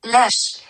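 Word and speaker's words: lâche: It's spelled LASH, but it's pronounced like lash because the A sound is very long. It's long. It's long A.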